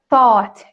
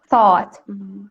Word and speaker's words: thought: The past form of think is thought in American English. Thought. Yeah. There is this sound, and most of the times people mispronounce it like thought, but there is no ow sound.